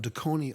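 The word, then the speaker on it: Dekoni: Did I pronounce that right, Deconi? That is absolutely perfect.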